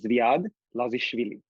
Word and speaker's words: Zvaid Lazishvilli: My first name is Zvaid Lazishvilli.